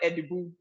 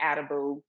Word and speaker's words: Adibu: and then of course my last name it's pronounced like edu but you know of course the American way adabu is the way that a lot of people may know it so a lot of